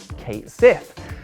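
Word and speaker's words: Cait Sith: debate once and for all by declaring it's pronounced Kate Sith and I wish I could say that was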